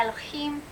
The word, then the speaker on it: Elohim: I have Elohim, so I have a little bit of an accent in there. Elohim. I'm kind of rolling that last syllable.